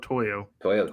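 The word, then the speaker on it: To'oTo'o: 202 Toyoto Toyo. Toyo.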